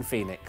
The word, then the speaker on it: Phoenix: It's not, it's Joaquin Phoenix. No, it's that's how you say his name.